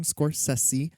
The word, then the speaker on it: Scorsese: podcast here we're doing the films of martin scorsese that's correct that is how it's pronounced this is the sexy session yeah this